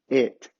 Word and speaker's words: it: coloquei aqui para vocês, a pronúncia correta dessa palavra é it. E essa palavra é eat. Então, se a gente olhar a transcrição fonética, a única diferença que nós temos aqui é a vogal.